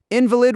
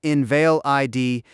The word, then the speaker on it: invalid: Quick tip, invalid with the stress on the second syllable, in val i d, denotes something weak in law, whereas invalid with the stress on the first syllable denotes a person weakened by illness.